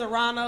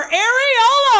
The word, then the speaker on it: Aarona: oh my God uh my name is Arana like piranha without the P I got to say that cuz like a lot of times people kind of mispronounce it also because I did a show and the DJ was like give it up for arola I was like what